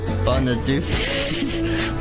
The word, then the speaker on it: Bonaduce: Bonaduce. We've told you that's wrong. His name is not Deuce or Douchey ever. Never say it again ever.